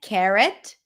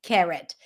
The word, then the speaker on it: carrot: And now this is in American English. It will be pronounced as an e. Carrot. Carrot. In British English, this is in American English. K. Carrot. In British English, it's more of an a as in cat.